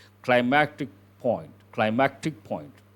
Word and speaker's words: climactic: Climactic point. Climactic point. Not climatic, climactic point.